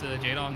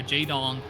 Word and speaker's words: jdon: jdon, to me, reminds me of the Korean StarCraft 1 pro player Jaedong, which is Jaedong. Same pronunciation, different spelling.